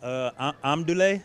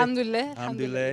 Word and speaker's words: Alhamdulillah: Was it Amdule? Is that how you say it? Alhamdulillah.